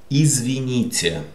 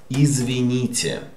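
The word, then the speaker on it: извините: Again, t is not t, but t, t, soft t, because after we have je. Izvinite.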